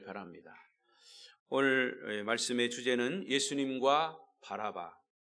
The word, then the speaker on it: 바라바: 오늘 말씀의 주제는 예수님과 바라바, 바나바가 아니라 바라바입니다. 발음 잘 하셔야 합니다. 바나바와 바라바는 절대 똑같은 사람이 아닙니다.